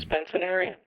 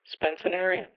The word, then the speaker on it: Spencerian: to slanted handwriting so let's listen to the pronunciation the proper pronunciation spenc arean spenciner spenciner finally the empty void